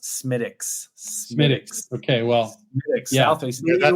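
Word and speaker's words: Smithwick's: important question of the day: Guinness, Harp, or Southwick's Red? And it's a Harp for me. So just to correct you, that is pronounced Smittix.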